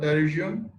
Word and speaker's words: Pterygium: So the spelling of terrorism, you can see here P is silent.